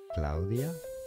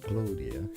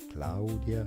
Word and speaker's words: Claudia: Spanish is pronounced as Claudia so it's not Claudia cloudia you separate out the sounds of the A and the U so that's out cloudia